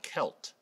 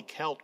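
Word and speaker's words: Qelt: In modern-day Israel-Palestine, today, just east of Jerusalem, there is a wilderness called the Wadi Kelt. Wadi is the Arabic word for valley. Kelt is spelled Q-E-L-T.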